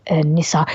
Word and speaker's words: Nissar: has been working with nissar he couldn't even pronounce nissa's name correctly he kept calling him Nas and that's not his name now if you've met